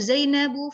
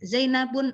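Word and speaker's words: زينبُ: Nah, kita perhatikan nama-nama perempuan ini, baik di belakangnya tak marbutoh atau enggak, semuanya tidak ditanwinkan. Aminatu, Zainabu, Fatimatu. Kita enggak bilangnya Aminatun, enggak. Zainabun, enggak.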